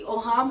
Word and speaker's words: Auhaam: सब जानना चाहते हैं, ओहम है क्या? What is the meaning of ओहम? Please ये मत बताइए कि गूगल कर दो. अच्छा नहीं मैं बताती हूँ. सबसे पहले इट इज प्रोनाउंस्ड एज ओहाम.